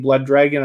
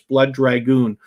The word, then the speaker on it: Blood Dragoon: But forgive me, I keep saying Blood Dragon. I should know better. It's Blood Dragoon.